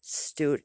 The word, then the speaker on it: Stute: where they lived 180 acres it was fred stoot s-t-u-t-e button german it's spelled s-t-u-t-t-e um but when we went to